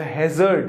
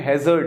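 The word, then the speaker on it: hazard: जिसको हम डेंजर या हैजर्ड, देखिए इसका प्रोनाउंसिएशन है हैजर्ड, हैजार्ड नहीं बोले, हैजर्ड, नो, बड़ा इंपॉर्टेंट सा वर्ड है।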